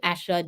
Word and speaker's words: Asher: read it for you it says Asha let's pronounce her name properly China Liu Asha joins fifth Pro Global player Council and it's